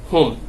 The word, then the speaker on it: whom: আর আরেকটি ওয়ার্ড আছে যেমন হোম, WHOM, হোম, এই হোমের ক্ষেত্রে এইচটা উচ্চারিত হবে।